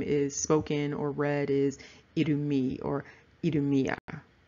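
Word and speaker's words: Edomite: Some people pronounce that I-T-E as it. It is, however, pronounced E, and so it's Edomi.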